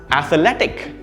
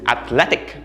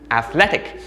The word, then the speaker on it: athletic: the correct pronunciation is athletic athletic notice that the stress is on the second syllable not the first one the second syllable and